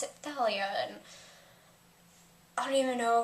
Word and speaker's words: Thalia: And then just don't even get me started on how they pronounced Thalia's name, because I've always, you know, thought it was pronounced Thalia. There's an H in there, and like even in